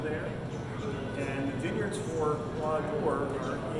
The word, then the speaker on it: Croix d'Or: This is the Croix d'Or, so it's pronounced Croix d'Or.